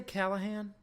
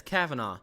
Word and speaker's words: Cavanagh: Did I say Callahan? I don't know how to pronounce his last I said name. Callahan. It's Kavanaugh. Kavanaugh.